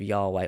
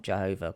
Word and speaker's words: Yahweh: In addition to the personal name of God, which is Yahweh or YHWH, pronounced with the vocalizations of Yahweh or Jehovah. Well, it's not Jehovah, because that doesn't seem to work in the fact when you trace these names back.